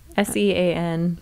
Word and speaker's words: Sean: So Shane, is it Shane or Sean? S-E-A-N. Sean. Okay. S-E-A-N? S-E-A-N. Yeah, Sean. Sean. Darn it. I'm saying it wrong the whole time.